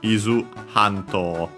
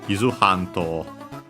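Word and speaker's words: 伊豆半島: So yeah, the Japanese name is Izu Hanto. Izu Hanto. The accent on the ha.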